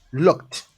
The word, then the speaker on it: looked: You see, like lock it, Lock it. or yeah. So it's usually, so you're gonna pronounce it as looked, Looked. looked, not lock it.